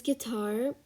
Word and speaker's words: guitar: word we have is guitar and you pronounce it as g i and not g u i so guitar um the eighth word